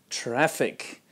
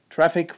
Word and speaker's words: traffic: traffic in instead of traffic traffic with the short vowel a like an apple I hear travel instead